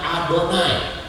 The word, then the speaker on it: Adonai: Yod he Fa He ini tidak boleh dibaca kalau ktemu dengan huruf ini harus dibacanya adonai jadi lihat ini harus dibaca Ini kan bingung Jadi kalau ketemu Yod he faw he harus dibaca adonai ya begitu sedang Baca